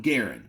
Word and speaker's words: Garand: grand and I know some people are going to say it's M1 Garen because the guy that invented it he pronounced his last name Garand and I appreciate that